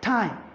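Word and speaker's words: thyme: or that for instance you have t h y n e it's articulated or it's pronounced as time you have t h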